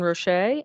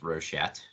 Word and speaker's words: Rochette: We have Rochette and Dr. Eric Lamb. So, would you like to introduce yourself to the group? Yeah, and so the last name's pronounced Rochette, just to clarify.